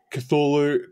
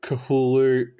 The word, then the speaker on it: Cthulhu: mythos now straight away cthulhu kahulu kulu there's so many different pronunciations none of them are actually correct because the language is railey railachian which is something that humans cannot pronounce oh so call it what you like i i fluctuate between cthulhu and coolu okay i've heard nothing